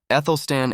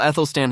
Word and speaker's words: Athelstan: While Athelstan himself may have been largely forgotten, his legacy still looms large. The A, by the way, is pronounced like the A in cat.